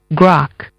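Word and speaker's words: grok: r o k spelled gr r o okay grock grock grock your word of the day pronounced Gro it's a verb and it means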